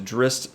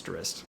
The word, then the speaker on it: Drizzt: give this point to Drizzt slash Drizzt I hate I hate that I'm a-saying dressed but I'll say it right for you guys it's dressed now we have role